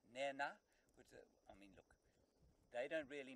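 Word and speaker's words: Nhenha: A slightly aspirated H or N, so it's Nena.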